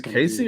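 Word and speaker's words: Caissie: I don't think Tucker is Casey or Cassie. Casey Casey. Oh, that's weird how they spell it.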